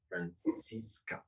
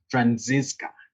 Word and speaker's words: Franziska: participants uh thank you friends francisco your name is pronounced franziska oh perfect that's that's